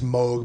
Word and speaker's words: Moog: So now going back to Bob Moog, is it Moog? That's how you pronounce it? Technically it's Moog, but everyone says Moog.